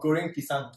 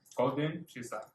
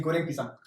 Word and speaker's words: Goreng Pisang: Okay, this is called Goreng Pisang. I want you to try Okay. pronouncing it. Goreng Pisang. Golden pizza. Goreng. Golden. Golden. Goreng. Goreng Golden Pisang. pizza. Say Goreng Pisang.